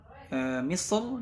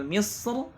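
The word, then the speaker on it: مصر: Nah, Al-Imam Ibnu Jazari di sini beliau memilih kalimat Misr dibaca tebal. Nah, dibaca tebal karena ra-nya berharakat fathah ketika wasal.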